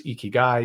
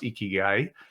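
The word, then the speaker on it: ikigai: Mark for your listeners eeky guy some folks might be familiar pronounced eeky guy like e a key and a guy spelled i k i g a i and yes uh the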